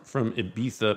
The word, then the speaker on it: Ibiza: It goes from Ibiza, by the way, I'm pronouncing it correctly.